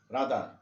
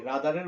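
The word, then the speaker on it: rather: Had better, would, রাদার, এই রাদারের উচ্চারণ তোমরা কিন্তু করবে রেদার না, কি করবে রাদার, উড রাদার, আর এর উচ্চারণটা উজ্জ্ব থাকবে, উড রাদার, নট রেদার।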